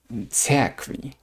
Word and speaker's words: церкви: The next word, church, in Russian is церкви, церкви, церкви. As you can see, we pronounce it as k, церкви, церкви.